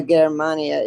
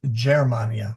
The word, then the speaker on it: Germania: Yeah, it's a soft G. So it's not Gmania, it's Germania.